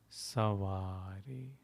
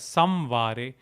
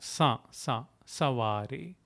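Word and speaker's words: सँवारे: So it needn't be, especially in Hindi and the North Indian languages, it needn't be pronounced as Samvare. It just denotes a nasal sound. Savare is enough.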